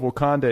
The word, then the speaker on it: Wakanda: women we have world of wakanda am I pronouncing that right yes you are so world of wakanda is you're the first black woman to write